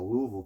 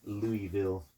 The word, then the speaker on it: Louisville: area based out of Louisville Kentucky notice how I said it right you know I'm from here but it wasn't Louisville I gotta say it with a mouthful of marbles yeah yeah you gotta you